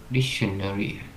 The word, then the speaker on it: dictionary: Nó không có nơ hay niết gì đâu nhé. Nó chỉ dictionary, nó ba âm.